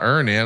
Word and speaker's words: Earnin: who say things like, when I think about Earn In, I think about financial stability, security.